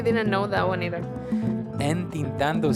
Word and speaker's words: entintando: Entintando. Entintando. Yeah, I know. I really didn't know that one either. Entintando sounds like intentando.